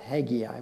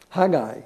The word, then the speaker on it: Haggai: old testament and hey hey guy it's not haggy eye why do i always say haggy either because